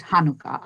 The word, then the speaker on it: Hanukkah: still be correct but i still pronounce it hanukkah ideally right correct nasal sound if you could bring it there that would be great